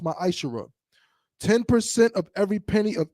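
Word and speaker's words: ma'aser: Means 10th in Hebrew and is pronounced ma'ashara.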